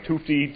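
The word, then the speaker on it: Tufte: ways to do it so tufti t-u-f-t-e it's not quite spelled phonetically excuse me anyway um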